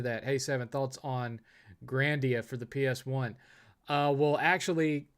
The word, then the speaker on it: Grandia: Hey, Seven, thoughts on Grandia for the PS1? Well, actually, I think it's pronounced Grandia.